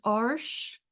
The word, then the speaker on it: Arches: with your printer um I use Arch 90 pound it's spelled arches 90 pound oh if it's